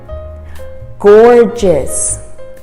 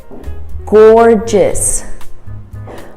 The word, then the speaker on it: gorgeous: it a go gorgeous gorgeous my mother looks gorgeous she looks gorgeous tonight gorgeous the next g is pronounced as a j gorgeous number four choir